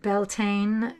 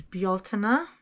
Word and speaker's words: Bealtaine: Nor is it Beltane. It's Bealtaine. That is the opposite side of the calendar.